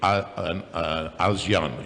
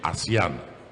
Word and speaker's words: ASEAN: some minor correction uh you don't say Asian you say asean Association of Southeast Asian issues asean not Asian Asia but that's a minor